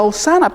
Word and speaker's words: hosanna: hebrea que quiere decir que se que se pronuncia o sana pero su civil su verdadero significado es o